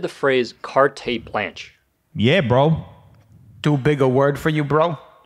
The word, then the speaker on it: carte blanche: Actually, it's two words. And you got both of them wrong. It's carte blanche. You shouldn't be using these words if you don't even know how to pronounce them.